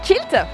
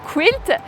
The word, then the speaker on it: quilt: et non initiés alors déjà à le prononcer culte et du coup forcément imaginé un bel écossais en tenue traditionnelle qui va venir se pointer à la prochaine journée de patchs et se dit que là vraiment le patchwork ça peut être à loisir vraiment attirant vraiment sympa ah mais non le quilt prononcé quilt est un mot anglais